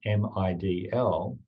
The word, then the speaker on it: MIDL: If you pronounce MIDL, it sounds like middle.